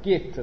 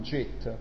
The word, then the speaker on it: Git: La G in inglese è sempre quella dura, Git, non JIT, come il programma di grafica si chiama GIMP, come... ok. Allora, andiamo a vedere Git. Git, non mi ricordo...